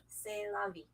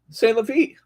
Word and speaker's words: C'est la vie: Oh, this is, how would you pronounce that? C'est la vie. C'est la vie.